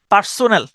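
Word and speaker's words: personnel: ঠিক আছে এরপরে আসেন পারসোনাল পার্সোনেল মানে হল আপনার কর্মচারী পারসনেল পারসনেল এভাবে উচ্চারণ করতে পারেন পারসনেল পারসনেল পারসনেল মানে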